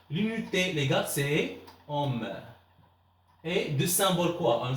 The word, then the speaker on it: ohm: Alors, on dit, ça se prononce ohm.